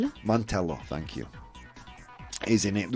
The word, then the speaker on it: Mantello: Joe Mantinet. I'm so bad at pronouncing names. Mantello, thank you.